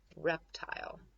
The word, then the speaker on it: reptile: cover it up then we have an e eval constant e syllable so the eye is gonna say its name the e is gonna say nothing nothing so we have I oh tile let's put it together rap tile reptile and then we put the